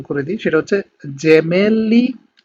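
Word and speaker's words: gemelli: আমি এগুলো আরেকবার আপনাদেরকে উচ্চারণ করে দিই, সেটা হচ্ছে জেমেলি, জিরাফা, জেন্তে, জেসো, যুবত্ব, জাক্কা, giusto giornale।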